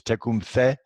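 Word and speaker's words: Tecumseh: little quick quote from Tacoma say he's actually the proper way to pronounce it is check whom say and he was Shani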